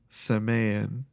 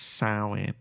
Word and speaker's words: Samhain: Yes, they like at some point bring up the idea of, in quotes, Samayan, and I was like, actually it's Samhain.